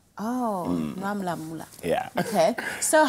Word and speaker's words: Noir Mula Mula: It's Noir Mula Mula. Oh, Mula Mula.